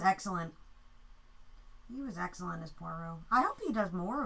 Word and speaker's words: Poirot: Poirot, not Perot. Poirot. Poirot. Yeah, I know it's Poirot.